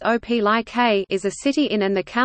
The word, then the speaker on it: Opelika: Opelika, pronounced Opelika, is a city in and the county seat of Lee County in the east-central part of the state of Alabama.